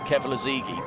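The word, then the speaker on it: Keflezighi: Now, there's always a debate about how you pronounce this guy's name. In Britain, we refer to him as Meb Kevilazigi, but I don't think that's how the Americans refer to him.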